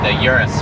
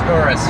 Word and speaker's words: Urus: Well, I just did the Urus video. Yeah. Urus S. It's like, no, it's Urus or Okay. Uranus. Yeah. Or whatever. Oh my God.